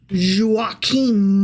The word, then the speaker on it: Joachim: David through Joachim. Sure. And it's very important that we pronounce that M on the end of that because that dude is one of the several missing from Matthew.